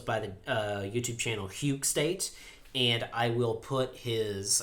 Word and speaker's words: Hygge State: I'm here with uh huge State I hope I pronounced that right yeah there you go yeah so um I